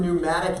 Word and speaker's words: pneumatic: to talk about some pneumatic devices if you get that term in your notes it starts with a silent p pneumatic devices okay pneumatic